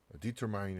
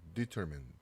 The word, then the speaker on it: determine: 자, determine 해서 여기 mine이 아니라 발음교는 이렇게 man 이렇게 발음이 되어 있어요. determine이 아니고 determine 이렇게 읽는 좀 연습 좀 해보세요.